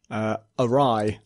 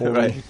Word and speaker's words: awry: Awry. I used to read that as Ori Right. until I heard it said out loud.